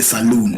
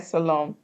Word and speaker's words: salon: M yeah we call it salon s a l o n hair salon yeah it's hair salon we call it saloon is the pronunciation but it's the right pronunciation salon but here you find them